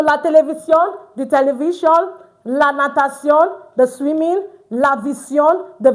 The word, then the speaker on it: natation: La natation. T-I-E-C. C. C. It's not T. Please take note. T-I is pronounced as C, not T. So that's why it is la natation, not la natation.